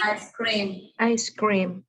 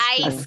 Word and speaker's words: ice cream: Now, what do I notice about the pronunciation of ice cream? It's two words, ice cream. But when I say Ice cream. it sounds like it's one. Do you guys agree? It doesn't sound like ice cream. It sounds like ice cream, like it's only one word, Okay. right? So that's how I'm going to pronounce it. Even if it's two words, I just say it all together, ice cream.